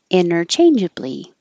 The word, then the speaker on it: interchangeably: that same situation interchangeably you can say it with the t enter or without the t inner interchangeably or interchangeably it's hard to notice isn't it you can